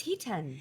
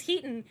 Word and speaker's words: Hiten: so my so affectionately you have been saying my name wrong is he ten it is it's heaton uh but you say